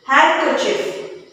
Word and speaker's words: handkerchief: How do you pronounce it? Handkerchief.